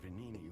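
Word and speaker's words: Venigni: My friend, the inventor Venini, went to stop them, but he never came back. Venini. I've been pronouncing that wrong.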